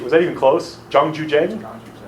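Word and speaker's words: Zhang Juzheng: Remember the comic talked about this guy, Zhang Zhuzheng? I don't know if my pronunciation, was that even close? Zhang Zhuzheng? Zhang Zhuzheng.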